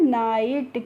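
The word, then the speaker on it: night: एन आई जी एच टी को आप पढ़ते हैं नाइट।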